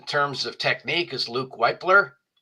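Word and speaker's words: Wypler: And one of my favorites in terms of technique is Luke Weipler. I've heard it pronounced Whippler as well.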